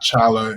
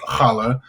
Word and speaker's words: challah: just got done uh learning how to pronounce it's not challa it's challah i learned that this